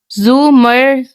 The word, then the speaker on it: زمر: تھی۔ اس نے البتہ زمر کا نام غلط تلفظ سے بولا تھا، رے کے اوپر زبر کے ساتھ اف اٹس زمر، زمر زے کے اوپر پیش ہے۔ اس نے توڑ تڑ